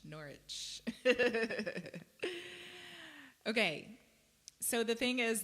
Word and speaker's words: Norwich: gonna say it wrong because I'm Americans I'm like Norwich it's not Norwich Norwich okay so the thing